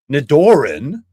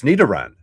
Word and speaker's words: Nidoran: Nidorin. Nidorin. That's the I I've seen some of his pronunciations of other Pokemon cards. I think this is the worst. It's Nidaran. Nidaran.